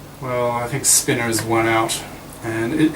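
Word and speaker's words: spinor: pronounce it spinner or Spiner well I think Spinners one out and it it's just think of um the pronun of the word winner right like it's like winner just so if you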